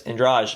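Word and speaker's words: Andrade: new opponent in um Douglas andr or uh Douglas Andra I think is how it's pronounced um but um it's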